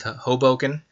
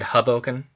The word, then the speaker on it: Hoboken: new new city of hoboken uh matt gets on me when i mispronounce that i think for the first few times i said hubblecan that's hilarious i think